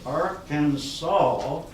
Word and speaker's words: Arkansas: Whitney look apparently was quoted somewhere along there as saying that it is going to be pronounced Arkansas whether you like it or not so that